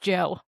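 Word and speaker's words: DJO: It's just pronounced Joe.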